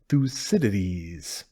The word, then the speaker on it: Thucydides: facility the name is a bit tricky though Fus cities oh so that's how you say it I